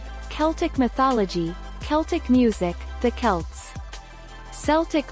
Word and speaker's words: Celts: with a hard see take our lead the celts klts slts see pronunciation of celt for different usages are a